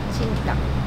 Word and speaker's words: 清湯: チンタン、清らかなお湯と書いてチンタンです。